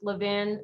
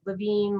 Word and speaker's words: Levin: chairman uh speaker harshman it's levin but honestly uh i'll take any of it levine levine levin i answer to all of it my my main name